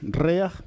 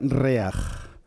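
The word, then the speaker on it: ריח: Bueno, esta palabra se pronuncia reaj.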